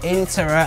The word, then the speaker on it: Intera: by a platform called interest pronounced in terra as in interactive and named to reflect